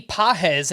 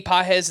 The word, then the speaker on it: Pages: case the Dodgers promoted Outfield Prospect and Andy pz and that's spelled p a GES 23-year-old mostly known for